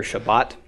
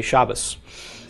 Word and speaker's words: Shabbat: pronounced as an S so you'll hear Shabbat we say Sabbath because incidentally in the Yemenite dialect the table makes a th sound without the doggish okay so we've got t th and s as all possible pronunciations of the top so so we say Sabbath okay Jews and Israel saves Shabbat in an Orthodox juice speaking Ashkenazi dialect let's say Shabbos okay so here all three